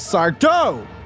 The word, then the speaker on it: Sardo: and we just hear someone shout, "It's Sardo!" And then he flourishes out of the back room saying, "No, mister, accent on the dough."